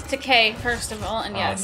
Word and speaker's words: Takei: Yeah, it's Takei, first of all, and yes.